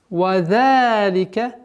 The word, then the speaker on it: وَذَلِكَ: Вадалика, вадалика. Межзубное произношение. Два счета.